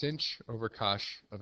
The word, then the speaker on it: cosh: the negative x divided by 2 hyperbolic cosine pronounced cosh cosh of X is e to the X plus